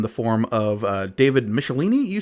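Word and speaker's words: Michelinie: new writer in the form of uh David michelini you say is how we say that's how I pronounce it yes I believe that is the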